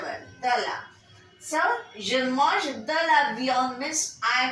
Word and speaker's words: mange: But when we say je mange de la viande, I am eating some mutton,